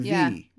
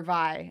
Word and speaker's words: Vi: There's Powder and V. Yeah. Oh, it's just V? Or Vi. It's Vi.